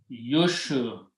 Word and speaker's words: yushrikuna: In this bab, first letter carries dhamma, so it is yushrikuna.